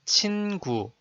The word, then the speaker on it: 친구: Another example, the word 친구 is made of syllable 친 and syllable 구, sound as 친구, and it has a meaning of a friend.